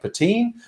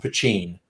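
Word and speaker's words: poitín: when you see it spell it looks like patine but it's pronounced pachin that's how Quail goat works so now you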